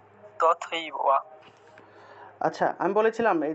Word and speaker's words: তথৈব: থাকলে দয়ব ঠিক আছে তথৈব থাকলে উচ্চারণ কি তথৈব থাকলে তথৈব তথৈব তথ তারপরে এব একসাথে বলতে হবে তথ এবং এব এই দুইটা অংশকে একসাথে বলতে হবে তথাবা এভাবে উচ্চারণ করতে হবে আচ্ছা তুমি 34 নম্বর